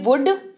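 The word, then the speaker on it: would: ओ यू एल दी इसको पढ़ते हैं वुड अगेन लॉजिक से है की इसमें एल जो है वो साइलेंट रहता है क्या रहता है एल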